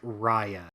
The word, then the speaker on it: Raya: Raya was the big one. Everyone was fucking pissed off about that. Mm-hmm. Mm-hmm. Hey Kyle, not to sound like a dickwad here, but it's actually pronounced Raya.